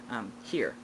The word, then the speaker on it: hir: And instead of his, hers, those kind of things, here. It's pronounced here, as if I were hearing, but it is spelled H-I-R.